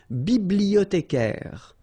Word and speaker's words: bibliothécaire: Then un bibliothécaire. Bibliothé, remember in French the H doesn't exist, so you don't pronounce it.